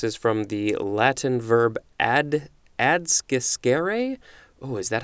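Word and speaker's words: adsciscere: Or adscescere, A-D-S-C-I-S-C-E-R-E. I know that the C's are pronounced K sounds, I think, all the time, but I am not 100% sure on this one.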